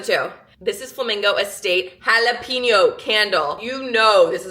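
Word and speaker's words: jalapeño: That's pronounced jalapeno.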